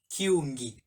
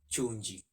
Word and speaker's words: kyungi: word or rather the right way should be kyungi kyung and not chonji some people even go to an extent of even replacing the key with chu so that um the way they would pronounce it is singular chonji and then plural yunji which is not the case it should be kyungi and yoongi going ahead is that